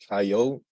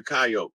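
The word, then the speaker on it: Kiot: whose totem is the coyote and it's it's um it's spelled that way and it sounds like coyote or kyot but it's a tribe it's not the animal so when they did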